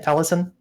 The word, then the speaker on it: Taliesin: Is that how you pronounce the name, Taliesin?